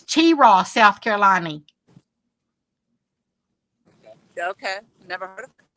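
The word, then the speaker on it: Cheraw: I don't know I don't drink it it's pronounced Chira it's Chira South Carolina okay never heard Carolina oh did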